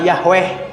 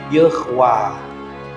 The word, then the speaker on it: Yahweh: y h w h orang Kristen nyebatnya Yahweh padahal tidak ada bacaan yahwe ini huruf ini tanda baca E ini tanda baca a panjang jadi bacanya ywah tapi orang Yahudi tidak